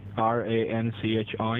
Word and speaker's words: Ranchi: I'm resorting at Karachi not Karachi it's arachi r-a-n-c-h-i Ranchi what is what is kitter poor I'm